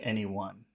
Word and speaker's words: anyone: which any yes okay now any has two syllables so which which syllable will get all of the attention so he wouldn't wake